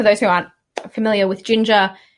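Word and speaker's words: Jinja: so with DBT and I think it's pronounced Ginger but it's with a J which is basically like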